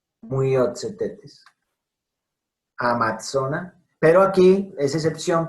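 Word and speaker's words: Myiozetetes: Y en medio de palabra, TS, miren, Myotzetetes, como en pizza, Myotzetetes.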